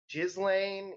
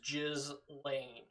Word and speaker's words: Ghislaine: Um, Gizlane, is it Gizlane? Gil Gillain. I Gillian. I'm almost 100% certain the proper pronunciation is Jiz Lane.